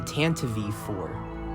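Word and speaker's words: Tantive IV: else that never really knew exactly how to pronounce it this is 75244 the tanto v4 or if you want to just call it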